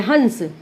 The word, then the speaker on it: हंस: इसका जब हम उच्चारण करते हैं, देखिए हंस, इसका उच्चारण करने में जो इसका वर्ण है वो आधा ना हो रहा है, ठीक है।